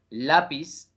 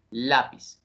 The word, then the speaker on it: lápiz: termina en s listo la palabra lápiz lápiz tiene el fonema Z sí por lo tanto no es el fonema s en ese orden de ideas lápiz llevaría tilde sobre la en la penúltima sílaba que es el fonema